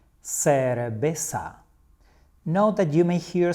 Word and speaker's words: cerveza: In Spanish, we say cerveza. Cerveza. Note that you may hear some people pronouncing it in a very slightly different way, like cerveza.